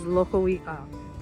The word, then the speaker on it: Loko'i'a: Loko means pond, i'a means fish in Hawaiian. We glide the vowels together and it's pronounced as Loko'i'a.